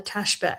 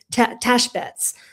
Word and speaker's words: tashbetz: And this is where the status of the teshbetz, how do you say it again? Always tashbetz.